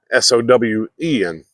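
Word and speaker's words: Samhain: 5 BC with the Celtic Pagan celebration called sinan now it's spelled s m ha a i n but it says it's pronounced s sin s o Wen and sa just means the end of summer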